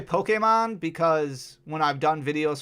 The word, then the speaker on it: Pokémon: in their instructions that you have to say Pokémon. Like p o k a y m o n.